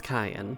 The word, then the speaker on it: Kaia: That's Kaia. Yes, that's Kayan. Kayan. Yes, also the Like the reason why... pepper? That's how you would pronounce it, yes, but not spelled the same way.